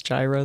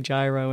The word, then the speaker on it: gyro: It's like when you pronounce gyro the right way. I feel like if you didn't grow up in that culture, you should just probably say gyro and not sound like the guy that's trying too hard.